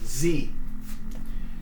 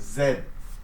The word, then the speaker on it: Z: about similar item um Z so it's pronounced with the e sound remember from tree so Z okay so